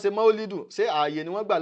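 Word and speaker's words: مولد: pé wọ́n ṣe rárá maulidu òun gangan ni correct pronunciation tó jẹ́ pípé rẹ̀ pé à ń ṣe ọjọ́ ayẹyẹ tí wọ́n bí ànábì o sallallahu alaihi wasallam ṣùgbọ́n mauludi tí wọ́n ń sọ yẹ gan kò tún correct so nínú èdè lugatan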